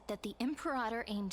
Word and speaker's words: Imperator: The Imperator has arrived before her faithful council, and the Alliance meeting is about to begin. Every time I hear it pronounced as Imperatum, it feels like my ears almost twitch.